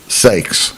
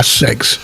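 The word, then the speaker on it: Ceyx: King C YX how do you say cyx sakes s yeah sakes Sak who drowned a sea in a massive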